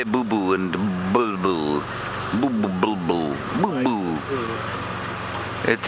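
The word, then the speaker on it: boubou: u l bull bull there is a boo boo but that's spelled b o u b o u so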